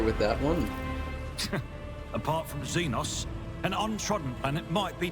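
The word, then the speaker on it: Xenos: could be mistaken but isn't this pronounced zenos that's how I normally hear it but from zenos I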